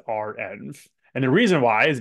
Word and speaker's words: renv: that it is pronounced RMV and the reason why is because it's actually just a shorthand for reproducible environments so R and then the N for environments so RM is always